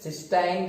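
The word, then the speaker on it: cystine: But here these amino acid सिस्टीन, सिस्टाइन, सिस्टीन, this is सिस्टीन एंड सिस्टाइन is different. सिस्टाइन, दो spellings है, okay, this is different, but वी are studying this सिस्टीन, TEINE।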